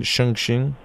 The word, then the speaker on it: Chongqing: How do you pronounce that again? Chongqing.